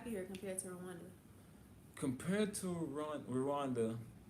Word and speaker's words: Rwanda: How do you like it here compared to Rwanda? Compared to Rwanda, and it's Rwanda, y'all. Gwanda. That's how they say it, but if to say it properly, is Gwanda.